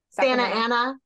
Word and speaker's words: Santa Ana: Santa Ana. We don't pronounce the T's.